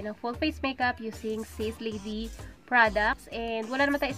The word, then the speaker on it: Sace Lady: So ang right pronunciation sa kanya is Sis Lady.